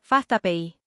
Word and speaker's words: FastAPI: Ahí entra Fastapi Payi, que vamos a pronunciar Fastapi.